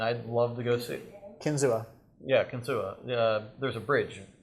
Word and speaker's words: Kinzua: the mountains and I'd love to go see Kinzua yeah ksua there's a bridge I guess by the dam what what do you say kinu okay kinu okay kinu so I'm going to